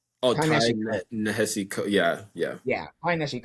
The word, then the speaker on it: Nehesi: mm, It's from Ty Nishi. How do you say his name? Shoot, Lloyd. Coates. Ty Oh, Ty Ty Nishi Coates. Nehesi.